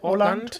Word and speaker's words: Åland: Is that how you pronounce that? Yeah, Åland.